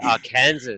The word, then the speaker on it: Arkansas: Well, then maybe they should spell it differently. The S is silent. It's like a French S, like a French silent S.